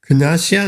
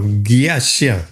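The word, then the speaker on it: ज्ञस्य: Gnasya? No, Gyasya, like Gyan.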